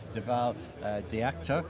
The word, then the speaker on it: Dhaval Dhayatkar: I'm delighted to be joined by Dhaval Dhayatkar. I think I got your name pronunciation correct.